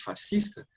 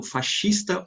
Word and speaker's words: fascista: como uma experiência igualmente fascista, eu falo fascista ou fascista, ambos os termos estão corretos, é que às vezes